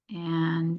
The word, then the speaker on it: est: That S and the T were very silent.